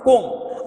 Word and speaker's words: comb: Here b is silent, comb. We have to pronounce comb.